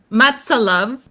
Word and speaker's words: MATSALUV: Oh, paano ba iyung pronunciation? Is it mats? Matsa love.